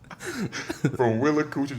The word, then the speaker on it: Willacoochee: Willacoochee, Georgia.